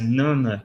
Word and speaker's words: Jnana: Então, aqui a pronúncia é Nana Yoga, que é uma yoga